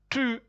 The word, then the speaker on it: tu: Tu, and you pronounce it tu. I know some people might have problems to pronounce because that u in French, u is pronounced u in French, is a bit complicated for English speakers to pronounce it. But with practice, you will get there.